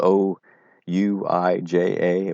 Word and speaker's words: ouija: things those which boards it's spelled o u i j a but it's ouija we had one we